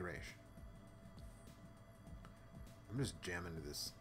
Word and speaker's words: Ra's: My ex was the same way about Ra's al Ghul and the proper pronunciation, which is Ra's al Ghul. Yeah, it's Raish. It's definitely Raish.